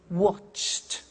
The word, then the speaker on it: watched: Now, when we add the ed, what happens is the pronunciation becomes T. We don't say watched, we eliminate the E and we say watched.